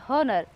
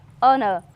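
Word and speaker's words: honour: जैसे लिखते हैं एच ओ एन ओ यू आर हॉनर लेकिन इसका उच्चारण करते हैं एच ओ एन ओ यू आर ऑनर।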